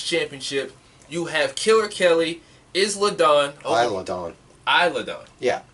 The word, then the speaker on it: Isla: You have Killer Kelly, Isla Dawn. Isla Dawn. Isla Dawn. Yeah. Oh, okay. It's like Island. The S is silent.